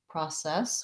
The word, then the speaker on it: process: say the ah vowel so we have first syllable pra that's long and then this letter c says the s sound process we have a vowel red tent vowel f